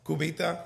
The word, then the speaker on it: Cubita: So, you opened and now I'm going to pronounce Cubita. Yep, that's good. Did I do well? Cubita.